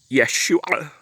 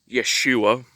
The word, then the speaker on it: Yeshua: Okay, you believe a man named Yeshua is how his name would have been pronounced originally, with the ayin, who most people pronounce his name Yeshua as if it were plain English.